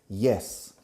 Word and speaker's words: yes: Yes. Pero fijaros en la pronunciación. Yes. No se dice yes. Yes. Yes. Entrando como si fuera una I latina. Como en la palabra hielo en castellano. Hielo. Yes.